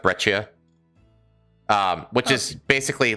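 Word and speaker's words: breccia: So this basalt this is breia. It's pronounced brechia.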